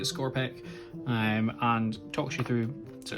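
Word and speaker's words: Skorpekh: only Primaris Captain against our Scorpec destroyers, is how we're pronouncing it, Scorpec, and talks you through.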